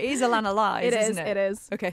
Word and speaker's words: Alanna Lyes: It is Alanna Lyes, isn't it?